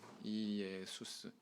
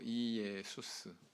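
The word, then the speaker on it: Ἰησοῦς: 이예수스. 예수스가 아니고 이예수스.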